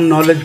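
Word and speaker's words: knowledge: KNOW LEDG तो इसमें K नहीं पढ़ा जाता, हम नॉलेज पढ़ते हैं।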